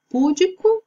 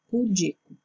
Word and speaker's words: pudico: E por último, na letra F, púdico ou pudico, que é uma palavra para fazer referência à pessoa tímida, a uma pessoa envergonhada. Então, a forma correta é pudico.